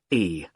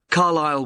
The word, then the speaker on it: Carlisle: It's Carlisle. You don't pronounce the S. Carlisle Way.